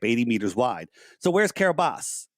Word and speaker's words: Kiribati: All it says, it was registered into the nation of Kiribati, it's pronounced. And it was 850 meters long, which is a gigantic ship, 80 meters wide. So where's Kiribati?